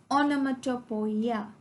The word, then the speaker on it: onomatopoeia: It is pronounced as onomatopoeia.